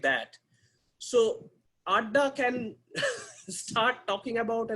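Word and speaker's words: আড্ডা: to find an exact english translation it is pronounced as ada it's a bengali word it's kind of having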